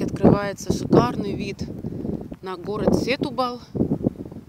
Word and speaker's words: Сетубал: С этой смотровой площадки открывается шикарный вид на город Сетубал. Оказывается, ударение все-таки на буковку У, на полуостров Троя.